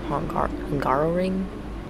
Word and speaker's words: Hungaroring: This episode, we're going to be racing for the Hungarian GP, the Hungaroring.